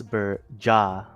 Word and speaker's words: Berjaya: Stop me if I pronounce this wrong. Berjaya Dragons playing off against RTZ Underank. It's Berjaya.